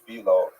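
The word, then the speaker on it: Philo: And it was received very positively by the ancient Jewish community in Egypt, particularly by pronounced fileo, who was perhaps the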